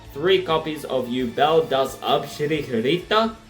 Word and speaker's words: Yubel: have three copies of you Bell three copies of you Belle does that's probably mispronounced but I'm pronouncing it how the Japanese do it all right all right